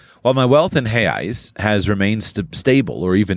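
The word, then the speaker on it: reais: while my wealth and hey eyes which is the the Brazilian pronunciation for the Brazilian real while my wealth in heis has remain stable or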